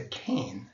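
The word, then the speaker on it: CAIN: or the requirements for the security is a cane cane it looks like this game but this is just the pronunciation-wise only so this is the um acronym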